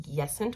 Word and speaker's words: Jessen: She wanted to do half yes, half no, so she's like, I think she said it's pronounced Yessent or Yessent.